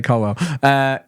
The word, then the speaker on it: Colwill: It's Colwill. It's spelled Colwill. You say Colwell.